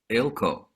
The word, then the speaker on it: Eelco: to introduce ilco to guest who i it pronounced your last name right ilco yeah i got that part yes um i